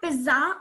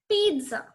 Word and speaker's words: pizza: It's not pizza or pizza. It's pizza.